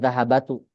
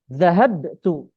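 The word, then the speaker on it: ذهبت: Ini salah ya, bukan dahahabatu. Bnya diganti dengan sukun. Naam. Zahabtu.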